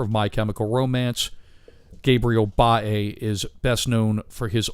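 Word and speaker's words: Bá: Way and illustrated by Gabriel Bae, or Bae is how they pronounce his name.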